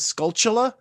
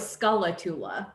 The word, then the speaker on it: Skulltula: I was like, wait, there's a U in there this whole time. Like it says Skulltula. I thought it was Skullatula.